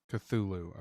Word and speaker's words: Cthulhu: Y Hey, uh Taco, check the Taco, check the backend chat and uh how do you pronounce that? Cthulhu. Cthulhu.